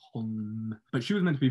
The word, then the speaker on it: Holm: But basically, what was happening is she was meant to be fighting Holly Holmes. But Holmes. I hate pronouncing that word. Yeah, it's weird. Holly Holm.